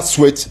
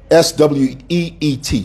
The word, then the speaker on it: sweet: T swits it's swits it's not swits it's sweet s we e t sweet pronunciate guys okay